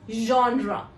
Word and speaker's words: genre: The next word is often mispronounced by people as Gina or Jenna, even genre. That is the incorrect pronunciation of this word. The correct pronunciation is genre.